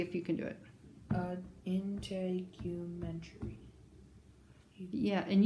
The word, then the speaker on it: integumentary: Yeah, and you kind of made the U long, didn't you? Yeah. So do that. Do it again long. Integumentary. Integumentary. Gosh, that's a lot of syllables, isn't it? 7. 7. Integumentary. Wow. You're right. That is 7.